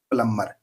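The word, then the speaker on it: plumber: उसको हम क्या बोलेंगे प्लमर यहां पर ये प्लर लिखा हुआ है बच्चों इसमें बी साइलेंट प्लबर नहीं बोलेंगे इसको प्लबर तो स्पेलिंग लिखेंगे इसकी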